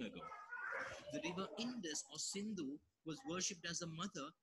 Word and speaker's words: Sindhu: The Persians who came to India had heard of the fabled Sindhu River, except that when they pronounced it, they dropped the S and called the river Hindu.